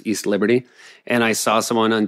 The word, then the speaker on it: East Liberty: from downtown to uh celebrity which is how Pittsburgh people pronounce East Liberty and I saw someone